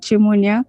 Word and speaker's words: Nchimunya: that okay hi so my name is auntie munya it's pronounced shimonya okay hi my name